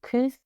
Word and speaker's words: Kooth: Online, they've got something called Kooth. They like tooth, but spelled with a K.